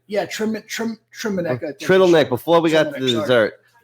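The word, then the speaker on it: Trdelník: So Trittleneck.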